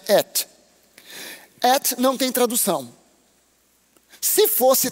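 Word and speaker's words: את: Porque essas duas letrinhas que você pronuncia et é um alef e um tav. A primeira e a última letra do alfabeto hebraico se pronuncia et.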